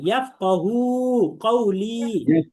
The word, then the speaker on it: يفقه قولي: يفقه قولي. يفقه من لساني قولي হ্যাঁ, يفقه قولي. يفقه قولي হ্যাঁ, يفقه বলে আমরা টান দিব, আবার قولي বলে আমরা টান দিব।